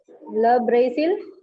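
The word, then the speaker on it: le Brésil: Le Brazil. Very good. Le Brazil. Zeal. This I is to be pronounced as E. So it will be Le Brazil.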